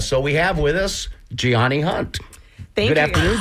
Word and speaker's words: Gianny: is first of all, her name is spelled Gianny. So you look at it and you think, is that Ginny? Wait a minute, is that Johnny? It's Gianni. Yes.